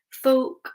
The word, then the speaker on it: folk: Folk, amazing.